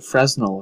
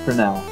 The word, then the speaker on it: Fresnel: I always thought it was the Fresnel effect, but no, it's pronounced Fresnel.